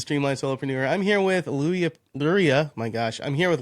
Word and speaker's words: Luria: If you think about a fishing lure, that's how you Oh, pronounce Luria.